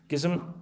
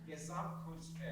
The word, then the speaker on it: Gesamtkunstwerk: Can you pronounce the Gesamtkunstwerk? - Gesamtkunstwerk. There you go. Thanks David. Say it again. - Gesamtkunstwerk.